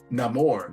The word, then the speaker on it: Namor: And yeah, cuz we got to say because it's a Spanish pronunciation now because he's Mexican. Namore. And Black Panther Wakanda. He's not Ney anymore. He's Namore. And Black Panther Wakanda forever.